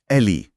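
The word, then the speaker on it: alley: हां यहां ए की जगह ई है और उच्चारण भी थोड़ा अलग है। एल इ एलली।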